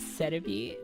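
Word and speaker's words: Serebii: I know it's technically pronounced cere. It's the Japanese name for salaby since they just romanized its name in localization.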